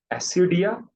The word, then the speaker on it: Ascidia: ASCIDIA, एसिडिया, ये एक नाम एग्जांपल है इस खानदान का।